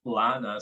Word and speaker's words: Lana: It's Lana. Sorry if I butchered your name. No, Lana's how you say it. Have to say You can just say Lana.